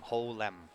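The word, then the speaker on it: Ho Lem: His last name is spelled H-O space L-E-M. So it's actually two words in his last name, Ho-Lem.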